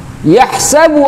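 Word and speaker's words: يحسب: Yahsabu annama lahu akhladah. Nah, yahsabu itu baru ha yang di dalam kerongkongan. Bukan yahsabu tapi yahsabu, masuk ke dalam kerongkongan.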